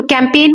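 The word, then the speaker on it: campaign: जैसे कैमपेन तो कैंपेन में यहां जी है लेकिन हम जी तो बोल ही नहीं रहे।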